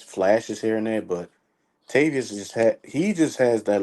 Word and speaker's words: Tavius: guys they had like Travis uh was it Robinson Travis Robinson o tavius tavius my bad tavius my bad said his name wrong Tav tavius is coming